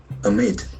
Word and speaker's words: amid: Amid. Amid. The accent falls on the second syllable.